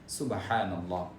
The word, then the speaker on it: সুবহানাল্লাহ: যথাযথভাবে সুন্দরভাবে উচ্চারণ করব যেমন সুবহানাল্লাহ এভাবে করে উচ্চারণ করব সুবহানাল্লাহ সুবহানাল্লাহ এভাবে করে আমরা উচ্চারণ করবো না তাসবিহ তাহলিল তেলাওয়াত